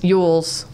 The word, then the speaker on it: Elwes: And he made that connection with Cary Elwes. Elwes? Yules? Yules. Cary Yules. His name is spelled Elwes.